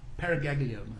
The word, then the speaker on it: paraganglioma: doctor just for clarification is it is it pronounced paraganglioma or paraganglioma I always I often add in the extra vow so it's a parag paraganglioma sorry thank you thank